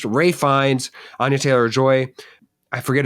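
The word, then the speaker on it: Fiennes: Rines is it it okay so it it's pronounced Rines Anya Taylor Joy I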